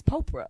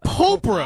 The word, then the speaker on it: Popra: Just like Oprah, but with a P. It's Popra. Popra.